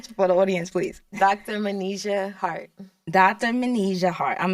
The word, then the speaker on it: Manijeh: I keep mispronouncing her name, but I'm so sorry. Say your name for the audience, please. Dr. Manijeh Hart.